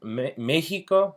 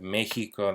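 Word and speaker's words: México: lick Seco so max Mexico Mexico is actually a bit of an exception typically when we have an X followed by an i we will actually use the sound in the case of Mexico that's actually just for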